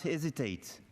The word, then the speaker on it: hesitate: Ici, Macron a oublié d'aspirer le H. Donc ça, c'est une faute que je pense la plupart des Français ont en tête. Donc vraiment, il faut prononcer les H aspirés.